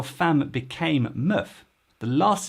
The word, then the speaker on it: meuf: you think is the valancia well it's la muff which is verlant for la fam this is